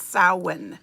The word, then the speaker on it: Samhain: it's about Halloween, Yeah, or Halloween comes- Samhain. Yes. If anyone doesn't know how to pronounce that Celtic word for Halloween, it's Samhain.